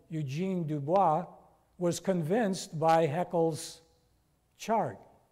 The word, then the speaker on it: Dubois: So Dubois went out. I know it says Du Bois, but in French it's Dubois.